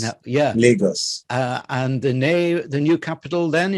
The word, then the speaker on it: Lagos: From Lagos, you pronounce it for me, to where? Lagos. Now, yeah. Lagos.